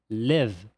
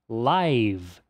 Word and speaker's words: live: Então, se a gente falar live, trata-se do verbo viver. Agora, se ela for pronunciada live, aí significa ao vivo.